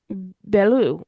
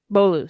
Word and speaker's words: Beaulieu: given the palace of Belleau, if I'm pronouncing that right. It's Beaulieu, sorry, in Essex.